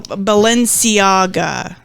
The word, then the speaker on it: Balenciaga: Bella something uh the clothing company yes oh Balenciaga yeah yes that's how you say it so